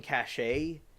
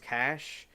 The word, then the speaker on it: cache: and she was saying cache and I remember from like the coding stuff I do and other people the chat we're saying it's called It's pronounced cash and one of my